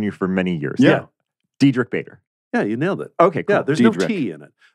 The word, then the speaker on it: Diedrich: Because like they pronounce it like Marlena, like Diedrich. With the T. Yeah. There's no T anywhere in my name. I noticed it's Diedrich.